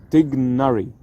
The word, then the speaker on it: Tighnari: English in my opinion I think the closest English pronunciation to the original Arabic pronunciation is dignari we replace these three